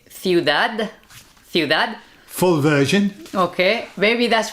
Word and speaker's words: ciudad: Or you can say ciudad. Like make it into a Z, ciudad. We would pronounce like a th. The sound, yeah. Okay, Yeah. so that's the three. I mean, the correct one would be ciudad with a D. But what you'll hear could be ciudad or ciudad as well.